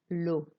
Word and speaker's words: l'eau: Je déteste l'eau. And notice how it's just like an O sound, like the letter O.